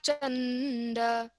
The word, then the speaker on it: Chanda: Gopika Chakora Chanda. Don't bite the chanda. Chanda. So let the A come out first and then the N.